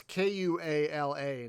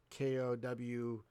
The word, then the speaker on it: Kuala: It's Kuala, not Kowala, or however they actually spell koala. It does sound similar the way I say it.